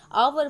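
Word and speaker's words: hour: Okay, third आपका क्या है, ऑनेस्ट मैन, ठीक है, ऑनेस्ट मैन, इसमें आवर में एच साइलेंट होता है, तो इसको क्या पढ़ते हैं, आवर पढ़ते हैं।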